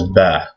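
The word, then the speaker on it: ب: The first one is Ba, and it has this little shape, and it has a dot under it. And this makes a B sound, just like the normal English B.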